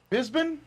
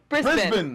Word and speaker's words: Brisbane: Bisbane? Bisbane? Brisbane. There's an R in there. Brisbane. Brisbane. It's not how the Americans say it.